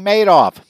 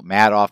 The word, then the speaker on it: Madoff: You know, Madoff, Madoff, depending on who you want, how you pronounce that, but everybody seems to think Madoff sounds better because he kind of made off with a lot of money.